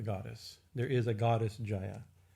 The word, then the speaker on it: Jayā: so you see so there's jaya in jaya right that long a here it's a long a this is a name of this is a group of devi names so jaya and jaya and vijaya right they're long as showing like shiva and shiva shiva mean is a